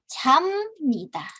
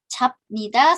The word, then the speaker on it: 잡니다: 잠니다. Dibacanya 잠니다.